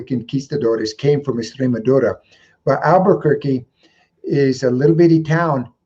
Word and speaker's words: Albuquerque: a liberty town there called albuquerque and it had an r in the in the second syllable the word albert okay and then so that's it that's the name of the town the spanish word has the letter r in it and the duke of